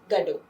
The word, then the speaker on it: Godot: With an American audience, Godot is pronounced as God-O.